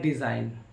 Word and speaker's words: design: जी silent, जी कब silent होता है, एन से पहले जी आता है तो जी को पढ़ा नहीं जाता है। जैसे लिखा है डिज़ाइन, डिज़ाइन DESIGN डिज़ाइन, RESIGN रिज़ाइन, साइन SIGN साइन। तो इसमें शर्त क्या था, एन से पहले जी आता है तो जी को पढ़ा नहीं जाता है, याद कर लीजिएगा।